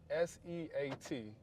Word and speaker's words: SEAT: It's spelled S E A T. So in America it be seat but over here they pronounce it seat.